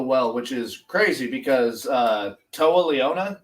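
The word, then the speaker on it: Toa Liona: Like their styles mesh so well, which is crazy because Toa Leona, is that how you pronounce his name? That's how I pronounce it.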